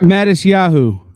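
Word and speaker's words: Matisyahu: How do I pronounce his name again? It's the Jewish rapper? Mattis Yahoo.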